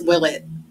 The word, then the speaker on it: Willett: to cut this out how do you say your last name because I don't want to butcher it no you're good it's will it it is will it okay yep J gang